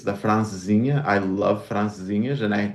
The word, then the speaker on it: Francesinha: It's the francesinha.